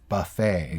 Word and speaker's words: buffet: it in English, but it's actually a French word. It's really a French word. That's why they don't pronounce the T.